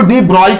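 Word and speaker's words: De Broglie: hypothesis कमा दी ब्रोग्ली उसे इसको दी ब्राइड पढ़ा जाना चाहिए पर स्पेलिंग मिस्टेक नहीं सब लोग बोलते हैं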